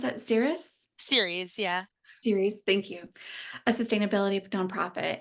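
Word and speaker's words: Ceres: the federal policy team at, how do you pronounce that, Series, yeah. Series, thank you.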